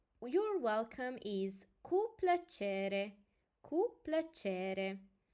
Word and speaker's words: cu plăcere: Thank you is mulțumesc, mulțumesc, and you're welcome is cu plăcere, cu plăcere. And we have a special syllable also here, ce, ce.